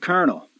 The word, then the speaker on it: colonel: L in the word colonel. I mean, there's no R in the word colonel, yet it's pronounced with an R, which tells you R's and L's are interchangeable.